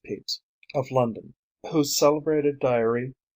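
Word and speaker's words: Pepys: of a place with that of Samuel peeps pronounce peace of London whose celebrated diary covers the decade of 1659 to 69.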